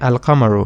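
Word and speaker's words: القمر: letters remember we studied about asham su and al kamaru and i told you that asham su means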